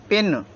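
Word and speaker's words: pin: हैं जैसे हमने लिखा पी आई एन तो यहां पर इसका मतलब है पिन यानी कि छोटी ई का साउंड दे रहा है छोटी ई ठीक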